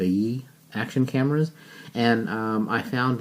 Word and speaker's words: Yi: GoPro against the Yi why I is how that's spelled the e action cameras and I